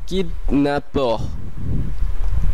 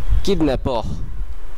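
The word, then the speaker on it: kidnappeur: এরপরটি হলো জলি, জলি এটি প্রায় ইংলিশের মতনই, এর অর্থ হলো খুশি, যার বাংলা কাছাকাছি উচ্চারণ জলি। এরপরের শব্দটি হলো কিডন্যাপর, কিডন্যাপর, কিডন্যাপর যার অর্থ অপহরণকারী।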